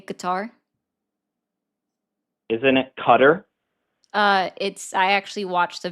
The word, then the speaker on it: Qatar: Is it going to offend you if I say Qatar? Isn't it Qatar? I actually watched a video on this today that it is Qatar.